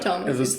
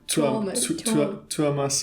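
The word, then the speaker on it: Tuomas: And it's not Thomas. It's like Tuamas or something like that.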